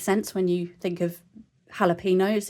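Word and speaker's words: jalapeños: And yeah, so we learned that the J is actually pronounced like a H, which makes sense when you think of jalapenos.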